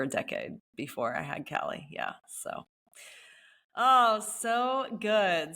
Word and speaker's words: Kali: That's the name of my daughter, although we pronounce it Callie, but it's spelled Kali.